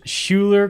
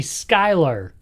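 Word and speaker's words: Schuyler: I thought it was Schuler Krumer. It's actually Skylar Krumer. Don't really know how you get Skylar out of Schuylar, but that's his name.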